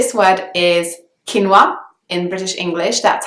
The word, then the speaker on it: quinoa: definitely that word because it's pronounced not how its kind of written if you know what I mean so quinoa is the British English pronunciation I would also be